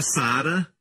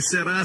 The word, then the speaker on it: Sara: Se o seu nome é Sara, seu nome é princesa. Amém? Eu digo aos meninos, não pronuncie será, será, será. Diga romanticamente, Sara.